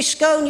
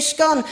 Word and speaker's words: scone: gone you say gone you don't say scone you say scone I said I call